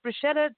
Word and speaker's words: bruschetta: Okay, I have to tell you, it's pronounced bruschetta. Okay. Because the CH in Italian is like a K.